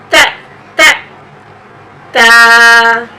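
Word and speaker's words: ت: Ta, the point of articulation of Ta is tip of the tongue touching upper incisors. You just try to say it again. Ta. Ta. Ta.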